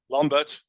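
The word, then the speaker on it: Lambert: from the previous page so lombert my best of Swiss German pronunciation proved that Pi was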